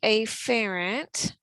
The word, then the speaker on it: afferent: move in to the lymph node through the afferent vessel remember the correct pronunciation here is really afferent but sometimes it's hard to hear the difference